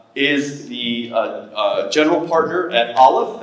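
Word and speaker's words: Aleph: the General partner at Olive that's spelled alph it is an early stage Venture Capital fund with about $850 million under management allive focuses on partnering with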